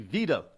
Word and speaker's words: Weidel: triumph in german elections alice weidel actually veda w-e-i-d-e-l but they pronounce it veda is a key figure